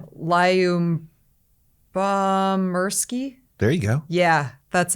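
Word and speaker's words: Lyubomirsky: her last name would you like to to pronounce this absolutely not lion bomb mursky there you go yeah that's it describe what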